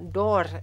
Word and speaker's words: daur: So we've gotten anyone does anyone have any idea what daur is? D-A-U-R, but it's pronounced daur.